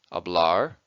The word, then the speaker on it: hablar: an infinitive verb and place an emphasis on the last syllable hablar Comair escribir on a